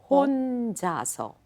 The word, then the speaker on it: 혼자서: A little more O. 혼자서.